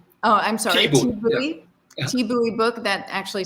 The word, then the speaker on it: Thi Bui: Christy writes, I see a Thai Bui book. Is that how you say it? T-Boy. Oh, I'm sorry. Thi yeah. Thi book.